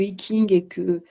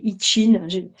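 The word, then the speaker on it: I Ching: Alors, plus tard, j'ai découvert les oracles, que le I-Ching que le I-Ching, qui est l'oracle. Alors, ça se prononce pas comme ça, de façon orthodoxe, hein, c'est I-Ching.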